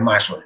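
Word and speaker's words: Masson: que era francés, entonces quizá la pronunciación sea más correcta, sea Massot, pero pueden decir triclómico de Mason, da lo mismo, lo importante es que me entiendan que es un epónimo.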